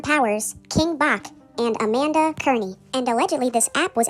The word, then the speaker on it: Cerny: My apologies, Amanda's last name is pronounced Cerny.